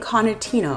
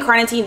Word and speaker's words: carnitine: going to be starting with is CLA and cartino okay that's not how you pronounce but it's CLA and carnitine this is my main go-to supplement for weight